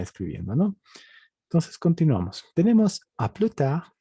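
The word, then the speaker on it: à plus tard: Tenemos a plus tard. Ya hemos dicho que la S no se pronuncia.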